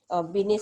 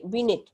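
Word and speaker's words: Binet: তো সে Alfred বিনেট। তো আমরা বানানটা হলো বিনেট, কিন্তু আমরা ইংরেজি নামই, ওটা ফরাসি নামগুলি হলো একটু অন্যরকম থাকে, তার যে আমরা বাংলায় বলি বিনে।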